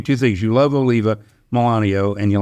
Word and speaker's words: Melanio: Is it pronounced Milano? Melanio. Yeah.